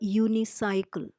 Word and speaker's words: unicycle: university is wrong a unicycle another example would be a uniform because all these words though they start with a vowel sound you they are pronounced with the Y sound University uniform unicycle Etc